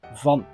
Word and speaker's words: van: In Dutch we say van.